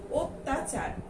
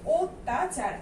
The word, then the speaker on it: অত্যাচার: যেমন এখানে দেয়া আছে অত্যাচার। ঠিক আছে, আমরা প্রথমেই স্বরেও দিয়ে যদি উচ্চারণ করি তাহলে এটা কিন্তু হয়ে যাবে অত্যাচার, কিন্তু আমরা আসলেই কি অত্যাচার উচ্চারণ করি?